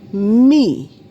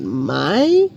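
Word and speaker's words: מי: So though you see my y as the transliteration the pronunciation in yahudith is me and not my.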